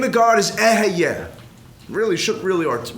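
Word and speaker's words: אהיה: The name of God is eheyeh. Really shouldn't really pronounce it, but for educational purposes, I'm telling you it's eheyeh.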